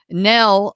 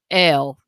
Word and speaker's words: Nell: uh dr nell smith nell um actually she pronounces it l um here i go